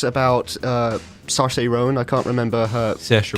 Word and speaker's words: Saoirse Ronan: But it's about Saoirse Ronan. I can't remember her. Saoirse character. Ronan, yeah. Saoirse Ronan. There you okay. go, more pronunciation.